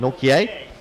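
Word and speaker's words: Nortje: How do you pronounce Norkier. that? Norkier.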